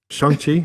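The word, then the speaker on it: Shang-Chi: experience i love that's shangchi is that how you're supposed to say that's that's how they say it in the movie okay um us americans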